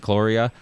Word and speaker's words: cholera: It's so what is how you pronounce it? Cholera.